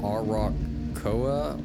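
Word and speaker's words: Arakkoa: Uh it's typically pronounced arocoa or acoa.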